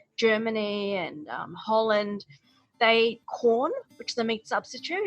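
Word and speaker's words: Quorn: Brooke went on to explain that in some parts of Europe, they eat a lot of corn. That's spelled Q-U-O-R-N.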